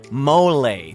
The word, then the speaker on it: mole: Think of mole negro as the VIP of the mole world, which, by the way, you should totally pronounce mole to sound like a pro.